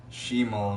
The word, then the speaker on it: Shamal: trivia there might be some funny Oh Arabic shamone means North in Arabic Schmoe means north however it is pronounced she mall nutshell mall okay Oh